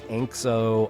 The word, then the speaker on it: Anxo: probably right is uh galician pronunciation galician is a language that's spoken in part of spain and it said it's pronounced ancho and it means angel so ancho that's what i'm going